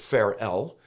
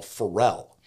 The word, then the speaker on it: Farel: Switzerland was William Fel some pronounce it farel we're going to go with a more traditional Fel Fel began as an